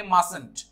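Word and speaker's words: mustn't: तो हमारा सब्जेक्ट के बाद मस्ट मी नो नॉट लगाएंगे, शॉर्टेंड फॉर्म करेंगे, तो इसे प्रोनाउंस करेंगे मस्टंट. अब इसके टी का साउंड को प्रोनाउंस नहीं करते, मस्टंट करके मस्टंट बोलते हैं.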